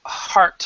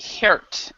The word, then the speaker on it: heart: means okay so alejandro could you say a heart for me hard okay because that's how you say it because you've been saying hurt or something even it's saying a different pronunciation